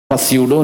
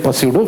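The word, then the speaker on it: pseudo: ये रहा तो बोलेगा साइकोलॉजी, हाँ बोले पस्यूडो फोर्स। यार पी साइलेंट होता भाई, कैसा पढ़ने का उसको? स्यूडो force.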